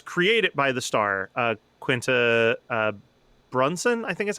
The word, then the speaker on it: Quinta Brunson: that, you know, it's created by the star, Quinta Brunson, I think is how it's pronounced.